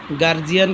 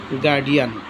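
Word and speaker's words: guardian: জি ইউ আর ডি আই এন এখানে হচ্ছে গার্জিয়ান কিন্তু না কেননা ডি এর পূর্বে কনসোনেন্ট ডি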